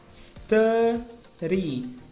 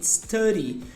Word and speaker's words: study: Você vai pronunciar assim, ó, como se fosse dessa forma aqui, ó, study. Esse D com Y ali, ele tem um som como se fosse um R, ri, study.